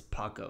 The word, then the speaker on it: Paco: His name is not Blanco. It's Paco. It's BLK Paco.